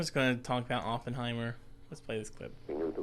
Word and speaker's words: Oppenheimer: J Roberts Oppenheimer I gotta try to say Oppenheimer because that's how you pronounce it I but I am that oh just looks so large in his name it makes me want to say openheimer but Oppenheimer Oppenheimer uh played by Cillian Murphy